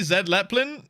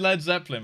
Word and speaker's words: Led Zeppelin: Did I say Zed Leplin? No, I didn't. I said Led Zeppelin, right? Did I say it wrong?